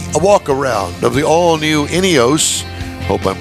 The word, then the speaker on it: Ineos: So did I pronounce it right? Ineos? Yes. Ineos Grenadier is the name of the vehicle.